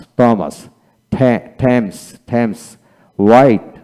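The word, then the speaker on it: Thomas: exist তারপর vehicle vehicle বিমেন্ট বিমেন্ট অ্যানাটনি অ্যানাটনি থমাস থমাস থ্যামস থ্যামস white বা white এটা হলো ব্রিটিশ এটা আমেরিকান উচ্চারণ তারপরে হোয়াট এখানে এটা হলো ব্রিটিশ এটা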